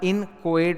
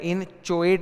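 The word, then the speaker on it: inchoate: इसका उच्चारण इनकएट होता है। इनचुएट नहीं होता है।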